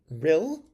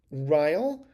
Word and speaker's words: Ryl: iced tea from the Rill, Ryle. I'll bet you they want it pronounced real.